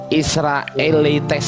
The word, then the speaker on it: Israelites: paham Saya tidak paham saya kasih tahu ini israeletes bacanya israelites ini bacanya okeah sekarang saya